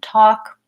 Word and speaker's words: talk: to watch out for other silent ELLs are in words like walk and talk and again it's probably